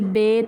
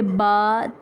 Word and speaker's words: با: لہجہ میں ادا کریں، اردو تلفظ سے پرہیز کریں، یعنی بے، تے، ثے، ہے، خے، تویں، زویں وغیرہ ہرگز نہ پڑھیں، بلکہ با، تا، ثا، حا، خا، تو، ظا پڑھیں۔ قاعدہ نمبر 2 یہ ہے